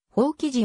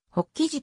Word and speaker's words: 法起寺: より高田由伸法隆寺管長により放棄地を正式とするという判断がされたためである長年の親しみもあり今でもほっ生地と読む人は多い世界遺産法隆